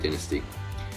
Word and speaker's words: Dynasty: Yes, I'm British, we pronounce it Dynasty.